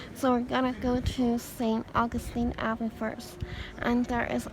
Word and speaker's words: Saint Augustine: to the audio guide I realized I have been sing the name wrong all along and it's Saint Augustine um and I realized